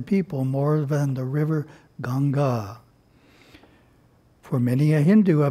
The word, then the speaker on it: Ganga: interesting facts of course genji's is the english word word in indian language is ganga long a on the second a ganga swami harshananda